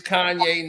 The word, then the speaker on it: Kanye: My name's Kanye, not Kane. He used to say that everywhere here because they used to call him Kane.